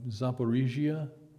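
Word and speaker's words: Zaporizhzhia: Well, it's been a while since I've actually studied detailed maps that low level from Zaporizhia, did I pronounce it right?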